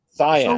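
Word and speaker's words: Siân: Her first name is spelled Sian. And Jason can correct me if I'm wrong, but that is the female form of Shawn. But it's Cyan.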